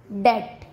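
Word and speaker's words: debt: बी का second rule है, जब टी से पहले बी आता है तब भी बी का उच्चारण नहीं किया जाता। जैसे डेट, डाउट, सटल।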